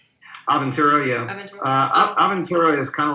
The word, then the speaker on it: Aventura: Aventura? Aventura, yeah.